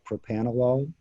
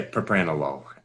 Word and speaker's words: propranolol: is wondering about uh propanology am i pronouncing that correctly yeah propranolol um so it's more responsive